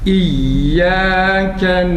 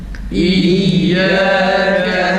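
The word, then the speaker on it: إِيَّاكَ: Ya'nın şeddesi tam çıksın. Yalnız İyyâke şeklinde olmaz. Ya yumuşak harf olduğu için bu şekil, bu tarz yanlıştır. İyyâke değil. İyyâke ya harfi aynı ra'daki gibi o anda okunuyor şeddesini okuduğumuz zaman. İyyâke na'budu. Yalnız aynı harfi güzel çıksın. Tekrar. İyyâke na'budu. Hemze çıkmıyor. İyyâke değil. İyyâke boğaz kapanıp açılmasıyla hemze güzel çıkar.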